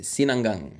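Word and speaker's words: sinangag: how to pronounce cang Sinang Sinang it sounds like sinigang you know but it's Sinang ang Filipino breakfast ay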